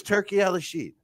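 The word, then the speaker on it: Turki Alalshikh: Let me help you with the pronunciation. Yeah, go ahead. Help. It's Turkey Al-Rashid.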